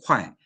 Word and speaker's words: 会: 快对那个这个是多音字那所以我们叫有时候读会但是在这里是读快会计会计